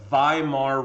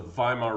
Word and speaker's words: Weimar: like weimar but it's w's are pronounced as v's in german so weimar republic okay the weimar